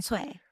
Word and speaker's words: Tsuei: Sway. I only know because I'm a big fan of the Asian beer Tsingtao, so I know that you don't pronounce the the T and the S.